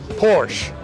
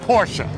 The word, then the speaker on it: Porsche: So what I'm going to do, we're going to discuss today this absolutely beautiful Porsche. Or if you're from Brooklyn, we say Porsche. It's two syllable word.